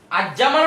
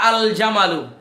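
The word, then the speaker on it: الجمال: আমরা বলতে পারি জামালু এখন বলেন আজজামালু না আল জামালু আলজামালু অথবা জান্নাত আল জান্নাতু ক্লিয়ার কিনা আল জান্নাতু তারানে লামটা উচ্চারণ করছেন আপনি এখানে তার মানে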